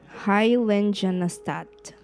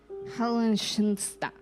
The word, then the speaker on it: Heiligenstadt: actually have no idea how to say this, Heiligenstadt. Heiligenstadt.